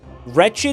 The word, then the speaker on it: wretched: Wretched lizard Wretched is the same as stretched, but it's two syllables.